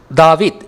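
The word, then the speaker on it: דוד: இந்த ஆங்கிலச் சொல் ஆதியில் தாவீத் என்றே உச்சரிக்கப்பட்டது. உண்மையில் இன்றும் யூதர்கள் இந்த பெயரை தாவீத் என்றே உச்சரிக்கின்றனர். தாவீத் தாவீத் தாவீத்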